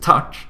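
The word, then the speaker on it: tack: yeah exactly exactly um whereas t a c k pronounced tck is thank you in Swedish so that's a little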